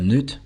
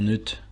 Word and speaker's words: Knut: On voit donc ici que le roi Neut, j'espère que je le prononce bien, ou Knut, ouais le Knut je pense que c'est mieux, ça se prononce plus comme ça.